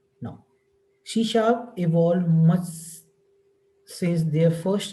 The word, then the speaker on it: C#: right so what exactly Shea she has is pronounced C it is an objectoriented programming language created by